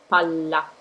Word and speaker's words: palla: Another word with a double could be palla, palla. You see, we have two L's, one after the other. We just say palla. We just say that L, we pronounce that L pretty strong.